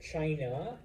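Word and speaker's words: Qin: the rise of the Chin and uh many of the things that make China including the name I know it's with a Q but it's pronounced Chin uh what makes China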